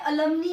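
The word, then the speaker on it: alumnae: बट अगर मैंने pronounce किया है अलमनी, अलमनी, मैंने क्या प्रोनाउंस कर दिया?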